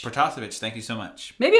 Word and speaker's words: Protasevich: I'm only going to correct your pronunciation on the Russian one. You did the French one pretty good, but I think it's got to be Protasevich. Protasevich, thank you so much.